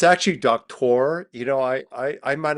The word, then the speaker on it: Doktor: I thought you were going to say the doctor thing. I almost did. I almost did. I His totally last called name is it. Doctor. It's actually Doktor.